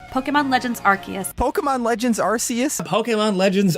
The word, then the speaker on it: Arceus: recent clarification of pronunciation it's pronounced arceus with a hard c the reason you might hear the occasional tom dick or harry pronounce it as arceus is because that's just